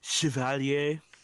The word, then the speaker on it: Chevalier: excuse me they put it's pronounced Chevalier chivalry yes Chevalier that's the